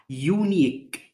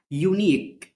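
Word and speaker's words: unique: حاجه فريده من نوعها يونيك يونيك يونيك يونيك اليو والاي في الاخر ما نطقناهمش يونيك فريد او مميز اكتشاف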